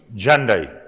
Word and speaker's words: Hyundai: What is the pronunciation of Hyundai? Hyundai.